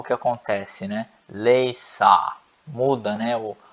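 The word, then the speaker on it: læse: E a pronúncia é leisa, leisa.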